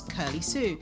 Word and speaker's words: Kirly: as well so the name I came up with was curly sue but it's spelt differently my knees felt K irly and curly sue curly